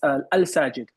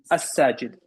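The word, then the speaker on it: الساجد: they'll call me as al-sajid, al. They'll pronounce the al, like literally pronounce the al, right? You can't do that in Arabic, right? You have to pronounce it as as-sajid.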